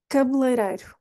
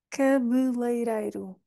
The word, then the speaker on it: cabeleireiro: pronunciá-la cabeleireiro cabeleireiro cabeleireiro O que é difícil aqui é pensar que o primeiro e não vamos pronunciar não está na posição da rainha e depois temos dois ditongos que é uma vogal e outra vogal juntas que fica ei ei